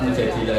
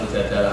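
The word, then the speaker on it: المجادلة: ceritakan Mujadilah itu ee beberapa ulama bacanya mujadilah perempuan yang mendebat Tuhan. Tapi ada ulama yang baca mujadalah karena diambil makdarnya kan jaalau mujadalatan. Kalau orangnya berarti mujadilatun, pendebat.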